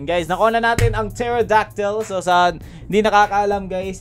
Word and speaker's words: pterodactyl: Nakuha na natin ang Pterodactyl. So, sa hindi nakakaalam, guys, isa lang trivia. Hindi po yan, pag binasa niyan, silent P yan. Ewan ko kung ba't may silent P. So, Pterodactyl yan, guys.